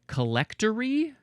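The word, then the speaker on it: collectary: All right, next we have, would you say collectory? It's the word collect with A-R-Y.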